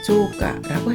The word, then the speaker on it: 増加: 그리고 더할증자는 음독은 조, 훈독은 마스, 후에르, 후야스인데 음독을 조라고 읽는 점 주의하시기 바랍니다. 그래서 증가를 조가라고 했습니다.